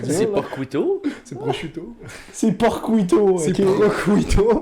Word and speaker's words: prosciutto: L'autre jour, je vous ai confronté à prononcer porcuito, là. Porcuito, c'est dur. C'est là. Porcuito? C'est prosciutto.